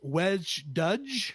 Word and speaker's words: wej Duj: is in kingon and I think it's pronounced wedge ddge sure we'll go with